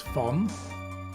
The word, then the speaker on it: von: By the way, it's not Von, it's Fon.